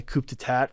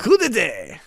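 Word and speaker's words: coup d'état: The Nazis and Italians had sponsored this one prince whose name was Rashid Gailani in a coup d'etat for the Iraqi government.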